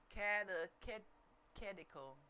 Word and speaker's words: catechetical: Catechetical. Come on, tell me how to pronounce it.